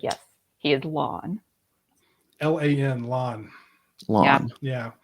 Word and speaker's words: Lan: And then this one gets people really mad, but it's lawn, not land.